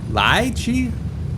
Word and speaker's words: lychee: Lie-chee?